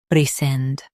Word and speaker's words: rescind: RESCIND. Both US and UK have the same pronunciation of this word. RESCIND. Now read the syllables shown on the screen naturally. Sind, rescind. Emphasize sind and keep it clear.